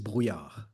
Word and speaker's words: Brouillard: Burlard if I say it in French is Byar.